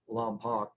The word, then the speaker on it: Lompoc: I guess the correct pronunciation is Lompoc, but anyway, it's a town about 30 miles from going straight towards the ocean from Neverland.